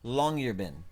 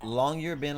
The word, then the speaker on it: Longyearbyen: It's pronounced Longyearbyen. This is in Alaska. It's pronounced Longyearbyen, Alaska.